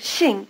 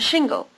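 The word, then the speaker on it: 姓: english word single and shingle if it sounds more like shingle to you notice these two differences Shing is pronounced with the tongue farther forward and with the lips spread first try repeating Shing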